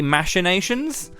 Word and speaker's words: machinations: you would say they're machinations I have heard people say machinations and that that does sound weird to me hearing cations rather than minations I've played machinist you